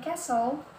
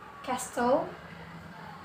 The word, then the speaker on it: castle: Kemudian castle bukan castle, dan yang terakhir adalah buffet, bukan buffet ya.